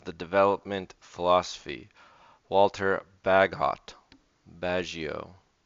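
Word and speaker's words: Bagehot: development philosophy Walter bag bagio should we find out how to actually say this guy's name we've read it before badget badget all right fine sometimes those are not the common pronunciation but anyway Walter badget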